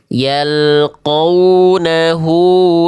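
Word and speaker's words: يلقونه: Kalau kita hanya lihat dari tanda, cukup kita baca dua harakat, maka dibacanya seperti ini ya. Bacaan yang tepatnya seperti ini. Izin dua harakat ya, jangan kecepatan, jangan kelamaan. Bacaan yang tepat. Yalqunahu salamun.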